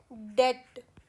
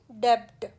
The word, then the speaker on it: debt: जैसे DEBT, ये यहाँ पर बी साइलेंट है, तो ये है डेट, ना कि डेब्ट।